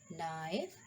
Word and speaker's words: knife: The letter K is always silent when it precedes the letter N in a word. Like no, K is come before N. Knock, knife, night, knowledge. So here K is silent.